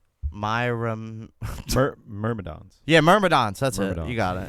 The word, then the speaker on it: Myrmidons: How's that said phonetically? Myrmidons. Yeah, Myrmidons.